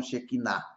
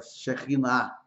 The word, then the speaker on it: Shekhinah: E ali, dentre essas asas, era que Moisés contemplava a Shekhinah, que muitos pronunciam Shekinah, mas pronúncia correta, Shekhinah.